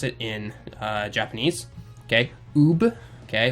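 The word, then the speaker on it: Uub: Okay, that's how you kind of pronounce it in Japanese. Okay, Ub.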